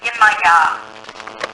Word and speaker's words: Yemaya: If it's the ocean, her name is Yemaya. Spell it. Y-E-M-A-Y-A.